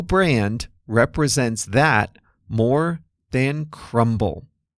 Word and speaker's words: Crumbl: And no brand represents that more than crumble. Crumble Cookies is spelled cr u m b l.